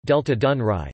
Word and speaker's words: Delta Dunării: Topic: The Danube Delta, Romanian, Delta Dunării, pronounced Delta Dunăre, Ukrainian, Delta Dunăre, translate Delta Dunaju, is the largest river delta in the European Union.